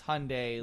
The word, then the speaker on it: Hyundai: a ad campaign where they said it's Hyundai Like Sunday.